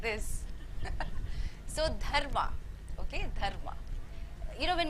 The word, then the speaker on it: Dharma: So you take the tip of your tongue and it's to the inside of your upper teeth, and you try and make a sound.